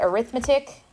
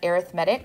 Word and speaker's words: arithmetic: geometric sequences this totally looks like the word arithmetic I I agree with you but when we're talking about sequences we pronounce that arithmetic so say that to yourself once arithmetic yeah